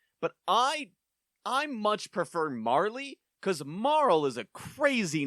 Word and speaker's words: Marle: Um, and she introduces herself as, "Now, Dana, you wrote Marl, as in it rhymes with Snarl, but I I much prefer Marley because Marl is a crazy name for a person.